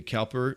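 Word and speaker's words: Cowper: John Newton's relationship with William cper uh or Cooper depending on how you say it it's really an encouraging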